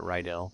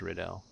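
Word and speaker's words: Rydell: his named Lord Reddell I would have pronounced it ryel but he said himself it's riddel yeah it's locked so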